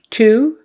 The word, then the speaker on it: two: short with a two it's got to be the ooh relax ooh relax two same thing as um okay I'm going to the concert I would like to go two or also and one two three all those are spelled differently but it's the same exact sound two two two and